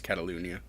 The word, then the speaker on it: Catalunya: de Catalunya which I probably just butchered the pronunciation I think it's Catalunya yeah it's good cat to Luton yeah all